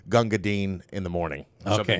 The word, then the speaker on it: Gunga Din: Essentially, that there was a movie in the 50s, Gunga Din.